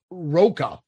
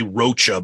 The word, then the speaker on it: Rocha: it's Zach Della and it's Roca correct that's mostly people say Rocha but it's I think it's Roca yeah roca's pronounced I saw yeah Tom Morello